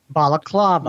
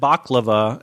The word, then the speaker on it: balaclava: you say that balaclava balaclava many people a sense this started have said baklava and I would love some baklava but that is not what that is actually Turkish food right Turkish